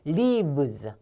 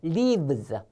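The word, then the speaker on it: leaves: 붙어요 lees 자 그래서요 V 발음 있잖아요 발음도 그냥 부가 아닙니다 이빨로 아술 문 상태에서 했잖아요 요것도 마찬가지 윈 이빨로 아수 문 상태에서 하면 돼요 lives 따라하세요 lives 잎사귀들 lives LE 하면은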